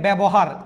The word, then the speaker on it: ব্যবহার: মানে কি এরকম থাকবে দেখেন ব্যবহার জফলার সাথে আকার নাই কিন্তু উচ্চারণে জফলার সাথে একটা আকার উচ্চারণ করতে হবে এ উচ্চারণ করতে হবে